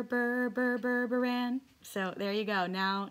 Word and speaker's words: Burburan: dr berpran and you pronounce that berber berberan so there you go